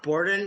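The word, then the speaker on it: Beorn: or is he bjorn boredom okay bor it's pronounced boredom even though it's spelled b-e-o-r-n it's b-o-r-d-e-n yeah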